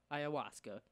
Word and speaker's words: ayahuasca: Oh, it says ayahuasca. Ayahuasca. That's what it is. That's how it. Oh wow. Okay, let me repeat. This is how it's pronounced ayahuasca, and it's spelled Ayahhuask.